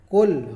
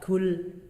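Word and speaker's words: قُل: Ketika membaca huruf qaf itu qul, bukan dengan huruf kaf, kul. Nah, yang mana sudah kita bahas tadi huruf qaf, qul di aqsal lisan, dan pangkal lidahnya agak dinaikkan ke langit-langit seperti itu.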